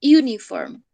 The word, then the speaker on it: uniform: Recuerden que cuando comienza por U, nosotros pronunciamos IU, ¿cierto? Es como si dijéramos la I y la U, ¿sí? Decimos uniform.